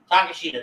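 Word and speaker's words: Takeshita: I always butcher this every time oh takashita takashita thank you there you go once I hear it I'm good but I can never say it Taco Bell Noah um golden Elite or bullet club and takashita uh golden Elite what I love to see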